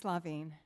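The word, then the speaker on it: La Vigne: Nancy C LaVine and I probably mispronounced it it's LaVine LaVine okay is director of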